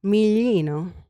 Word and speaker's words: Miglino: But then, hold on, I got to say her name in Italian. Miglino. There. It's beautiful. Sorry, I had to. I like it. No one's ever pronounced it that correctly, so I appreciate it.